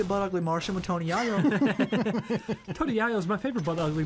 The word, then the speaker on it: Yayo: Yeah, it's pronounced yayo like mayo.